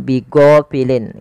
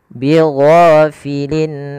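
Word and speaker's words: بغافلين: Allahnya tebal wamallahu biighhofilin Gin panjangkan dua harakat dan dia jangan dibaca dengan G jangan bighofilin ya tapi bighho gho bighofilin Amma Jelaskan tanwin pada lafal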